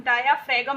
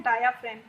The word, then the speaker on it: diaphragm: Spelling पे मत जाइएगा, प्रोनाउंसिएशन इसका देखिएगा, DIAPHRAGM, डायाफ्रेम। इसे हम डायाफ्रेगम नहीं पढ़ते हैं, इसे हम पढ़ते हैं डायाफ्रेम।